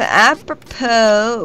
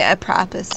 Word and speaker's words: apropos: Meaning to the purpose, the word emphasizes lands on its last syllable, which ends in the silent S. See, I've been pronouncing it apropos in my head this entire time.